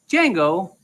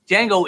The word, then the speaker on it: Django: Django isn't a slave. Django is a free man. You understand? They got Django. Okay, the D is silent.